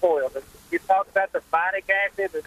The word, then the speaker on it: phytic: You talk about the phytic acid. How do you how do you spell that? Phytic acid. Yes. The phytic phytic acid. PHY ti phitic acid.